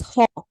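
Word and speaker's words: ὁ: but I pronounced it I read it as ho ho it is because of we have what do we call the rough breathing mark this is what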